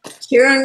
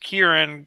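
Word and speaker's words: Ciarán: Well, it says he would also accept Kieran, spelled with a C-I-A-R-A-N, if necessary to register. So, Yeah. And they're pronounced the same as far as I know.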